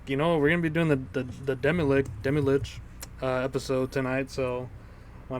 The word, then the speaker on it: Demilich: We're pretty sure it's supposed to be pronounced Demilich, but we all agree on Demilich. It just sounds better. I don't. It really. Lich sounds better than lick to me.